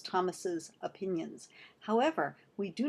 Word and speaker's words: Thomas's: to the word Thomas we pronounce the possessive as if it had two s's at the end it's Thomas's opinions however we do